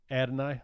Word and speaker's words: Adonai: And then at 7-5, do you know how to pronounce this guy's name? I haven't got Adonai. That's what I thought. Mm-hmm. Adonai Mitchell.